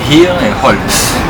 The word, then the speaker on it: Hierholz: Tu prononces le H de Hirholz? Bien sûr, on dit Hier et Holz.